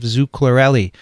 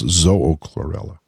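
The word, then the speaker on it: Zoochlorella: the symbiotic hosts of zucchlorelli it's by john de long zaina al-amili duncan james van etten and david dunigan yeah if you don't mind me correcting your pronunciation though it's zoho chlorella oh zoe chlorelli yeah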